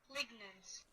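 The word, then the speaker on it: lignans: Anyway, let's see if my pronunciation was correct. Is it lignens?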